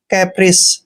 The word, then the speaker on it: caprice: जब भी सी के बाद ई आता है तो सी को सै पढ़ते हैं। कैप्रिस, कैप्रिस मीन्स होता है मौज मस्ती करना।